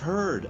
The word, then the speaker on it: heard: Beware of heard a dreadful word that looks like beard and sounds like bird.